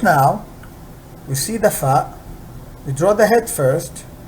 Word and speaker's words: ف: equivalent in English and PHA is exactly pronounced like the letter f so this is far far and like about